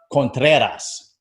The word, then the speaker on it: Contreras: How long were you rolling that R?